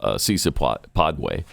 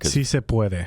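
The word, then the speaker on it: Sí se puede: Also, and this gets lost in her mispronunciation of Cisa Padway. Pedboy. I can't even say it right anymore. Si se puede.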